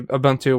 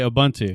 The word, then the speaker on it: Ubuntu: the word ubuntu but if i am talking about the linux distribution ubuntu i say ubuntu yeah i know but